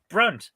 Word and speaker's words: Brunt: don't know there's something about them you you mispronounced that it's brunt fca all their ferengi oh sorry sorry